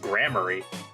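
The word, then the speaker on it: Gramarye: all the AJ fans like okay so it's pronounced grammar yep gram that's interesting okay so there we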